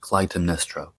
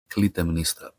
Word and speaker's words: Clytemnestra: In English, the name is pronounced Clytemnestra. Clytemnestra.